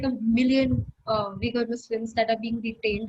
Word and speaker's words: Uyghur: Uyghur pronunciation. I have no idea. It's Uyghur Muslim. Uyghur.